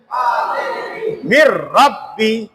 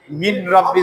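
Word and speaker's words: من ربي: মিম রাজের মির, রা বা জবর রব, বাজের বি, মির রব্বি, মির রব্বি। কোনোভাবে যেন নুনের উচ্চারণটা না আসে, মিন রব্বি যাতে না হয়।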